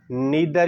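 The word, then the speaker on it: neither: अच्छा, जो आइसोमेट्रिक थी ना, आइसोमेट्रिक में आपने लिखना है कि द contraction in which muscle नीदर या नाइदर, जिसको जो भी आपकी प्रोनाउंसिएशन है, muscles नाइदर shorten nor lengthen but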